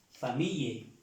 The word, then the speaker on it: famille: Vemos que aquí se pronuncia la L, doble L, famille, famille, y así varias palabras